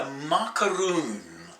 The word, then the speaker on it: Maakaroun: fried dish called a Maakaroun. And it sounds like a macaroon, doesn't it?